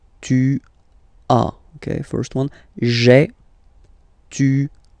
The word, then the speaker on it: tu as: Tu as, okay? As usual in French, final s is not pronounced. Tu as. Tu as, okay?